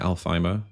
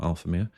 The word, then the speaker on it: Alfheimer: Alfheimer, is that how you say it? Alfheimer, not Alphamere.